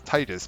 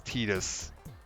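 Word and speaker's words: Tidus: that this was like oh it's Titus but they spelled it funny because they they're they're putting a a ploy on tide in there but no no it's tetus which yeah not how you pronounce that at all but whatever well got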